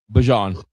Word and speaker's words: Bijan: Bijan.